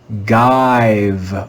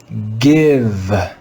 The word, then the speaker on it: give: the word live here if we followed the usual rules for reading the letter i the letter i in this word would be long and sound like i we would read this word as guide or jive but that would be wrong this is an irregular word and in this word the letter i is read with the sound let's read this word together give give give this is another irregular